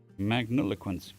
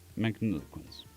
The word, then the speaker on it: magniloquence: men care what it means how do you pronounce Magniloquence. Magniloquence. Okay. Thank you. Robotic voice. Magniloquence.